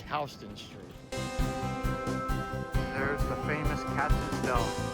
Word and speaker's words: Houston: I know some people might call it Houston Street cuz it looks like it's spelled that way, but it's actually Houston Street.